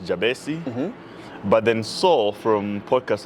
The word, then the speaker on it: Jabesi: here's why so uh the the name is pronounced jabesi but then Seoul from podcasts and children and